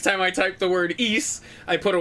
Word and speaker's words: Ys: immediately following his was i bet you're pronouncing wise too it's not pronounced that way if you say it though it's pronounced ease and he went on